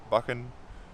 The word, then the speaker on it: Buchan: Buchan, like Loch with a CH, but Buchan. So it's not a K, but really it's alright. It's all part of. It doesn't really matter. It's just interesting. Some people ask me how you say my name, and that's how you say it.